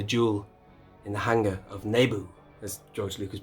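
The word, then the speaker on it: Naboo: the fantastic spectacular jewel in the hangar of nebu as george lucas pronounces it there's another space here i'm thinking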